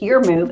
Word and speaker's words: EurMove: name of this company, it's Your Move, and it's spelled EURMOVE.